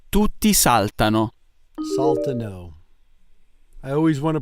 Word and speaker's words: saltano: Tutti saltano. Saltano. I always want to pronounce it wrong. I always want to put the emphasis in the wrong place. Because we would say saltano in English, not saltano.